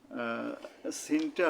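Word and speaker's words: سين: তালবিষা দিয়ে লেখা হয় তো এই সিনের উচ্চারণটা কেমন হবে জিহ্বার আঘাত সামনের নিচের দাঁতের আঘাত থেকে শীষসহ পাতলাভাবে আদায় হবে এবার আরেকবার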